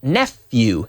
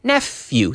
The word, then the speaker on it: nephew: you so buddy no nephew nephew nephew few few the pH it spelled with a pH but it's pronounced like an F nephew nephew so is